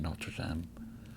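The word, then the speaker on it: Notre-Dame: And I don't know if you've ever been to Notre Dame. Notre Dame. The Americans pronounce it Notre Dame, which is wrong.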